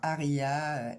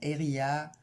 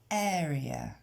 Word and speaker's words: area: On entend aria, area. Donc bien area.